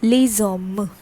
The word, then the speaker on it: les hommes: s is added and the pronunciation also changes. So here the vowel is there and here it is s. Okay, so accordingly this gets connected and it forms the sound like les hommes.